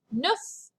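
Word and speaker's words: neuf: here it is again the number nine is nuff and finally the number 10 just like the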